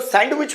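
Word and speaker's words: sandwich: अब जो सैंडविच बोलते हैं उसमें डी साइलेंट होता है हमेशा। है ना? सैंडविच। सो सैंडविच जो बोलते हैं उसमें डी साइलेंट होता है सैंडविच।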